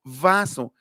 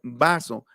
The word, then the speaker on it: vaso: Cuando decimos en español, recuerden, como les dije una vez, no existe eso de pronunciar victoria, ni tampoco vaso. Es incorrecto. En realidad se debe pronunciar vaso, victoria, porque el cuadro fonético,